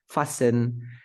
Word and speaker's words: fasten: me check the words fasten soften something like that I never pronounce the T in these words the first one foreign